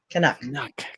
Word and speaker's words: Canuck: And Canuck Gal says premium eyes would be cheaper than a seed box if you can. Canuck Gal. Canuck Gal. I told you, Nuck like puck. Canuck.